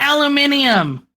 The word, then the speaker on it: aluminium: The reason why we have a fundamental difference as to how it's pronounced is because we spell it differently as well.